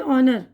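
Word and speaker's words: honour: अब उसके बाद है ऑनर यानी इज्जत, तो एच से शुरू करते हैं लेकिन आवाज़ ओ से शुरू होती है हमारी, ठीक है ना।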